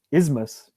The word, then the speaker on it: isthmus: no TH, because that's one thing. S and TH, when they're right against each other, it's almost impossible, even for native speakers, to pronounce that combination of s and th together. It's really difficult to pronounce. So the pronunciation of this word is just isthmus or isthmus.